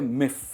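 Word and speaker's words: miff: दोस्तों, आज जो वर्ड मैं आपके लिए लेके आया हूँ वो है मिफ। क्या कहेंगे? मिफ। बहुत ही सिंपल प्रोनाउंसिएशन है, वन सिलेबल वर्ड है मिफ।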